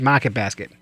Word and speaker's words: Market Basket: at Market Basket or as it's pronounced in Massachusetts maret basket so moving on John